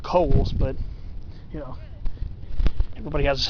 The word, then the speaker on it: Cowles: A lot of people pronounce it Cowles. I used to think it was too. But it's actually supposed to be pronounced Coles, but, you know, everybody has a different pronunciation of it.